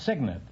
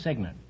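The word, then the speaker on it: cygnet: if you don't know guess goad no it's signant it's spelled c y g NE T but it's pronounced signant well you uh still have half your bank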